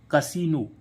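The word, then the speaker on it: casino: शब्दों में होता है आई का उच्चारण बड़ी बहुत कम शब्दों में होता है जो कि अब हम देखते हैं कौन-कौन से हैं वो श शब्द जैसे सी ए एस आई एन ओ कसीनो कसीनो तो अब देखो इसमें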